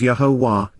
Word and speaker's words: Yahowah: your deliverance and Freedom yahwah yahwah the proper pronunciation of yahwah our eloa God has directed in his Torah